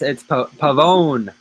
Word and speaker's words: Pavone: Pavano and Pavano. No, it's Pavone. Pavone.